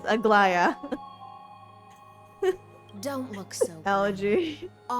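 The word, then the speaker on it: Aglaea: Algae? That spelling is pronounced algae. So yeah, technically, yeah, maybe it's algae. But it is Aglaya.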